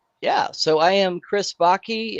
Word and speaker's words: Baki: Yeah, so I am Chris Baki. It rhymes with hockey.